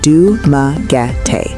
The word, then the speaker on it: Dumaguete: adapting the pronunciation to what is now Dumaguete, pronounced Dumaguete.